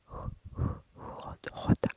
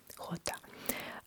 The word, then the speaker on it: jota: Jota. And jota looks like J. But we don't we don't pronounce it as J.